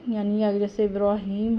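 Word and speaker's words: إبراهيم: अला इब्राहीम, रॉ को पुर पढ़ेंगे।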